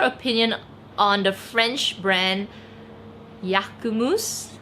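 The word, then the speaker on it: Jacquemus: on the french brand yakumus i hope i'm pronouncing that right not jacumus right it's yakumus uh i i don't really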